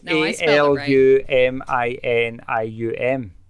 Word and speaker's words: aluminium: Oh, it's a L U M I N I U M.